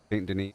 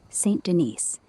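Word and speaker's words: Saint-Denis: Can you try to pronounce the Denise as a French word? St. Denise. It's sand. You got it, Goo. It's sand in French with a soft sand and a nasal ni at the end.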